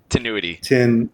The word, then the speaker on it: Tinuiti: Tinuiti.